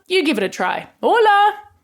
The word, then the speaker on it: hola: give it a try hola it starts with an H but you don't pronounce that in Spanish there are 21 different